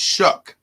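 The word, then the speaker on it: Shough: seeing it's not yeah it looks like Shu but so shuck that is a unique spelling Charlie is spelled s h o u g h yeah and it's pronounced shuck I don't know what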